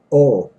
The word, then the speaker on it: ho: your Widow you say Oh which is h o H is not pronounced in the time or